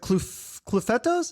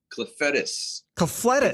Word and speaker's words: Clufetos: So Tommy, is it Clufetos?